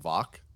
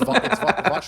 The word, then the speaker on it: Vach: watch Lombardi's channel, and at the time it's VOCH, and we're calling him Vok. Like, I don't know. I didn't know. That's how you usually pronounce in that kind of setting. Anyways, doesn't matter. Anyways, it's Vach Lombardi. It's Vach.